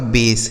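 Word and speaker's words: base: यह हो गया मेक किसी भी शब्द के लास्ट में ही रहेगा तो उसका उच्चारण नहीं होगा बी ए एस ई यह लिखा गया आपका बेस ठीक है ना इस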